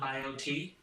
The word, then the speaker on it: BioTE: Is that how you pronounce it? They're called BioTE Pellets, and so they help with the hormone regulation, and they are bioidentical hormones.